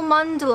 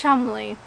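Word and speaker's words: Cholmondeley: okay cha Mon delay Chumlee Chumlee Chumlee Chumlee what Chumlee so not tall Mundell eh no it's Chumlee Chumlee I want to say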